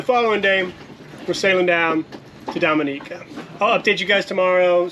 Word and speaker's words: Dominica: to Dominica which by the way I've been pronouncing it wrong I've been saying Dominica because I just came from the Dominican Republic but I've been watching the Olympics and